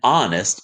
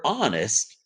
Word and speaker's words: honest: mean by that an honest answer the word honest starts with an h but the h is silent so the first sound